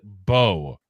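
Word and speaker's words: Mbow: But it is it is bow like Bo Jackson bow and arrow.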